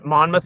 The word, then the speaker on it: Monmouth: Monmouth, Oregon. I wanted to say Monmouth because that's how it's spelled, but I felt like that wasn't correct.